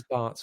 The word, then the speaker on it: Barts: one it is but it's Barts for me that I'm Barts rhymes with farts so let's do that